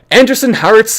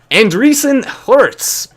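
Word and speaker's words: Andreessen Horowitz: very very very small anderson hearts plans one billion cryptocurrency vc fund and recently anderson imagine imagine me actually pronouncing it like that no it's it's andreessen hurts 1 billion cryptocurrency vc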